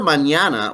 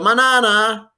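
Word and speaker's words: mañana: manana oh you see that squiggle on the first n that is so spanish it gives it an ny sound like an english canyon it gives it the net sound uh so hasta manana without the squiggle on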